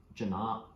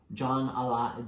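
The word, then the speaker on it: Jan'alai: more you hope for janaab I think it's pronounced John a lot John I Orgeon Ollie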